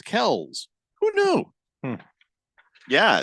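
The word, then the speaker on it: Kelce: for the brand they should probably stick with Kelsey but technically we've been saying the name wrong it's Kell's who knew yeah it's almost as weird as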